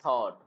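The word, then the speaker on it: thought: टी एच ओ यू जी एच टी और यहां पे जी एच साइलेंट होता है। इसलिए थॉट डायरेक्ट जी एच को गायब करोगे और बोलोगे थॉट थॉट थॉट think थॉट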